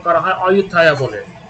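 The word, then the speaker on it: Ayutthaya: Coincidentally থাইল্যান্ডের প্রাচীন রাজধানী হচ্ছে অযোধ্যা, তবে ওদের ভাষায় বা ইংলিশে এটাকে উচ্চারণ করা হয় অযোধ্যায়া বলে।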